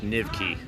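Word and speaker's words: Nyvky: kind of cool for you to see this pronounced nivky whenever you go to the metro there's all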